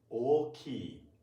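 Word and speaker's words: 大きい: It should be pronounced like oki. Oki. Oki. Oki. Four. Okay, please try with me. Oki. Oki. Oki. Ki should be high.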